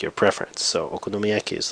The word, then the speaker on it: okonomiyaki: 5 six different sounds so it's a six syllable word at least by Japanese syllable standards and this sound is o noaki or okonomiyaki now this is actually